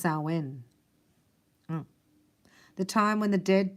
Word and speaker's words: Samhain: but to White magicians it is Sam Hein pronounced sauwen the time when the